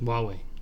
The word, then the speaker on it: Huawei: It looks like Hawaii. Mm-hmm. It's like an H and like U. I can't even know how to spell it. But every time I Huawei? saw it, it looked like Hawaii. But they pronounce it like Huawei or something like that.